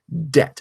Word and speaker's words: debt: Debby tah so let's put a silent B into debt and that's how the modern spelling de B T emerged okay I'm so sorry